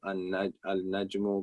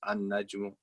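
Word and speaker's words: النجم: But we are pronounced when we're speaking them, we will drop the lam. So we gave the examples. Al-najmu becomes an-najmu, becomes ar-rajulu, ad-diku, as-samaku.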